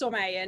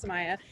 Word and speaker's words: Somaya: My name is Samaya, or Somaya. Samaya is typically how they pronounce it here because they have a hard time with Somaya. But I own my name. It's Somaya, not Samaya.